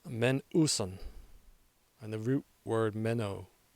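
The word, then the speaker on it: μένουσαν: The word we're going to Greek out on this time is lasting, pronounced menouson, and the root word meno, meaning to remain, to abide, to continue.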